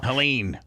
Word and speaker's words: Helene: Helene, that's how you say it.